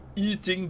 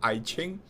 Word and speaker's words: Yijing: Yijing, this is the Hanyu Pinyin. The old name is called I Ching. We want to follow China's way, Pinyin way, and not I Ching, because that's the old pronunciation.